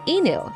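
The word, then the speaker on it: いぬ: Before kanji came to Japan, the native Japanese reading was enu. The reading that came from China together with the kanji is ken.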